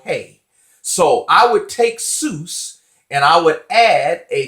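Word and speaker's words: סוס: So that is pronounced sus, sus. That is the masculine singular word for horse.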